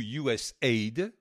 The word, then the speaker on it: USAID: L'USAID, ou USAID, hein, on le prononce si on fait le AID en aid, en tant que aid également, ça veut dire quoi?